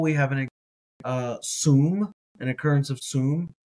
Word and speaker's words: שום: Today we're thinking about the Hebrew word that is spelled sin vav mem. Sin vav mem. Mem. So this is sum.